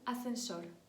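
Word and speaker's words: ascensor: Ель асснсор ліфт аснсор взагалі воно пишеться бачите есс але коли швидко вимля Ми кажемо асенсор асенсор тобто не розділяємо с с асенсор через міжзубну с далі дєшите 17те слово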